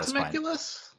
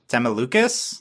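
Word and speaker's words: Temelucus: It's not Temeculus. Temelucas. Temelucas.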